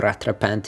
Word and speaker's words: rattrapante: Amazing stories, amazing legacy, and not to forget the Rattrapante that they did, or Rattrapante if you want to say it correctly, which was sold off recently, I think at both Sotheby's and Christie's, various versions.